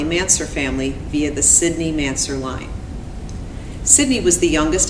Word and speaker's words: Mansur: brother and I are aware that some people pronounce the man's her name as Mansour but today we will be using the pronunciation of mansur which is how our grandmother pronounced the name